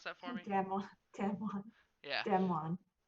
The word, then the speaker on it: DAMWON: You pronounce that for me? Damwon.